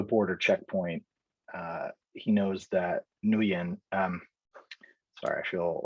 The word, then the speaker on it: Nguyen: He knows that Nguyen, sorry, I feel like I'm pronouncing that name wrong. Isn't it just Win? It's just Win, yeah. I think it's Win, right?